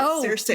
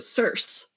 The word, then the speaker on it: Circe: And I did figure out I was mispronouncing her grandmother's name because I was pronouncing it Cersei. Me too. And they pronounce it Circe.